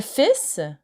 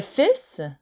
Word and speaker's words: fils: Le fils, the son. Le fils. So be careful, you don't pronounce the L in fils. So la belle-fille et le fils.